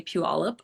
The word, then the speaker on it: Puyallup: My, I guess, stake in the claim is I know how to say Puyallup. I'm from that area, Puyallup, Washington.